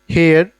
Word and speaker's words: Haier: सो हुण अगर मेरा हेयर्स इत्थे बैठा है, हेयर्स दे सेकंड लेफ्ट ते कौन है, सैमसंग, क्लियर।